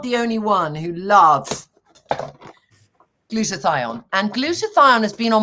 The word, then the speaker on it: glutathione: Okay, how do I pronounce it first so I get it right? So I call it glutathione. Glutathione is a very powerful antioxidant.